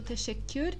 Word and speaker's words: teşekkür: Nós temos dois Ks, então na pronúncia do teşekkür a gente vai dar uma pequena pausa para que esses dois Ks sejam os dois pronunciados. Teşekkür, teşekkür. E nós temos ali um U com tremas, que aqui na transcrição abaixo eu coloquei ele como IU, teşekkür, como se tivesse um I ali no meio.